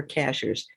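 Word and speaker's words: Cashiers: word sky ships over cashers cashers is the name of a town here at the top of a mountain but it's spelled just like a cashier at a grocery store and you can find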